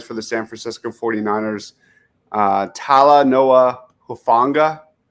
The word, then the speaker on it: Talanoa Hufanga: I don't even know how to pronounce his first name, but he plays for the San Francisco 49ers. Talanoa Hufanga. Talanoa Hufanga.